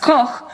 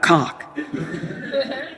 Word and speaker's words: Koch: It's meant to be pronounced Koch, but if you're living in an English-speaking country, 8 out of 10 times it is Olga Koch.